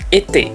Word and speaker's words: été: Yang pertama bisa Anda temukan ada di kata "été" (musim panas). "Été," lalu ada "rahasia," "rahasia." Lalu ada "télévision", "télévision". Ada juga "téléphone" dan banyak lainnya. Jadi, pengucapannya cukup mudah, hanya "ay."